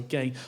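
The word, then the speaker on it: Ghey: vigil for Brianna Gray, G is pronounced, sorry, Gay, a 16-year-old teenage trans person who died.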